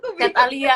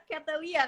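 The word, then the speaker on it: Chatalia: Chat Alia. Oh, Namanya kesusahan ya, Chat Alia. Chat Alia ya. Iya, kadang ada yang baca Catalia kan kalau Iya. misalnya Inggris gitu.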